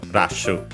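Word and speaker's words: ラッシュ: Uh and yeah, actually it's actually uh just like in English on the first syllable rash.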